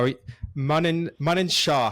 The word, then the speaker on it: Manan: Manan Shah, how are you doing? Manan like running, as I'm told.